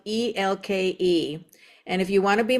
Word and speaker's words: Elke: Oh, by the way, Ela is spelled EL. And if you want to be my friend, it's not pronounced Elkie. It's Ela.